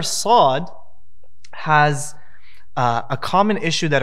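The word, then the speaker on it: ص: What you have to make sure and know is that the sad has nothing to do with your lips. Notice how I pronounce the letter sad. Sa, su, si.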